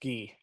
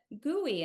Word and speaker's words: Gui: And it's actually I go by it's actually pronounced Gee. Oh, I'm Gee, so oh my sorry.